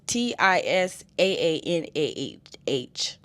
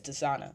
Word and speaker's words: Tisaanah: Because even Tisana, her name is Tisaanah. What I'm saying is Tisana, but I'm saying Tisana, so I'm just gonna say Tisana.